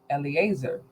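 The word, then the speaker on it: Eliezer: my estate is let me get his correct pronunciation Eleazar uh of Damascus verse 3 and Abram said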